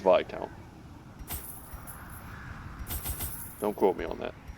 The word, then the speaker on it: Viscount: count this count no it's definitely not Viscount I think it's pronounced by count don't quote me on